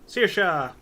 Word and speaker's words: Saoirse: So everybody knows, like scissors, like shears, but like Saoirse.